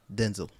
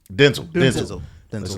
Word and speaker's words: Denzel: That's how you actually say his name. That's the right way to say his Who name. said that was the right way to say it? He did. Yeah, he did. Denzel Washington said that the right way.